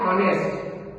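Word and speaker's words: honest: इसको हम ऑनेस्ट नहीं पढ़ते, एच साइलेंट होता है, इसको पढ़ते हैं ऑनेस्ट।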